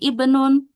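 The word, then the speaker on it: ابن: Ibnun ini Hamzah wasal dibaca kasrah.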